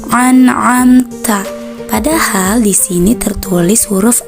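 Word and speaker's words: أَنْعَمْتَ: Lanjut ke ayat 7, kesalahan yang sering ditemukan yaitu pada kalimat an'amta. Sering kita menjumpai membacanya dengan cara menjadikan a dengan ain. Itu kurang tepat seperti ini. An'amta.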